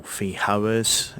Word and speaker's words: Feijoa: on my pineapple guavas, or Feijoas, or Feijoas if you pronounce it with a Spanish J.